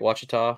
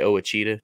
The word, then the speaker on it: Ouachita: Anglers on Lake Ouachita I almost say that wrong because I make fun of it and say it wrong on purpose I always say oh a cheetah just to mess with people and I almost said that right then but I got it right watch Tom uh 42